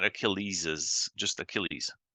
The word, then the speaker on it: Achilles: ailles is heel yeah not Achilles is just Achilles Achilles heel Achilles heel okay good to challenge someone